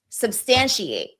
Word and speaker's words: substantiate: Substantiate, substantiate, substantiate, substantiate. So again, a schwa here, right? Substantiate, substantiate. And if you notice, the stress is on this vowel.